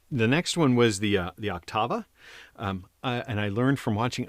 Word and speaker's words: Octava: But the next one was the Octava. And I learned from watching other people's videos that most people pronounce it Octava. I had always said it Octava. I think I've been pronouncing it wrong.